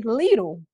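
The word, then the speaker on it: Lidl: but that area of town didn't have a little and I was like wait a minute it's pronounced Litt she was like yeah how you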